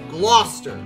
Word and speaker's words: Gloucester: that it's actually pronounced gloucester there's like a dozen letters there's like four letters here that don't need to be here but whatever navy dog